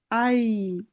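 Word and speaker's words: Ei: এটা আই। হ্যাঁ, এখানে ডান সাইডে যেটা আছে ওটার ইংলিশ উচ্চারণটা নিলেই উচ্চারণ সঠিক হয়ে যাবে।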